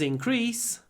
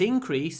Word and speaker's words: increase: was a 25% increase increased stresses on the E when it's a verb increase stresses on the I when it's a noun it increased there was